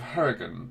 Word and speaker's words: Hurricane: It's the city of Hurricane. Yeah. Because it rhymes with Leverkin.